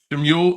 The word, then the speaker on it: Shmuel: Shemuel, I can't pronounce. What is that? How do you pronounce that word? Immortal Coil. Is it Shemuel? Shemuel, thank you, Coil.